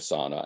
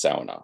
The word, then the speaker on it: sauna: The people think that the idea of sauna, and I'm saying it wrong, it's sauna, right? Sauna is just fine.